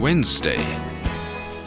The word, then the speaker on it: Wednesday: is silent in now the D is silent in Wednesday the G is silent